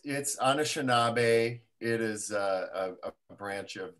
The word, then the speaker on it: Anishinaabe: And Dane, would you mind pronouncing the land for me that you're calling in from? It's Anishinaabe.